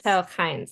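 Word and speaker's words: Telchines: Telkines. The the the accent's on the second syllable.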